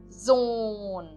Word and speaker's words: Sohn: De novo, eu não pronuncio o H aqui, ok? Então o O, ele é prolongado. Sohn, eu digo.